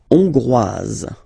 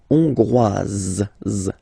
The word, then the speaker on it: hongrois: La Hongrie, Hongrois, Hongroise. Okay? Hongrois, Grois, Hongroise. Okay, so here, final S not pronounced for the masculine form, and then you pronounce it here for the feminine form.